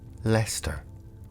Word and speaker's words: Leicester: At first sight, towns such as Leicester, spelled L-E-I-C-E-S-T-E-R, pronounced Leicester, or toaster, spelled T-O-W-C-E-T-Z-R, can seem intimidating.